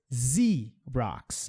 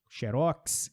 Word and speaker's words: Xerox: A gente também sempre vai perceber esse som quando a palavra começar com X, que não é comum em inglês, mas há algumas palavras. Xerox, essa é a pronúncia da marca, ok? Xerox, Xerox.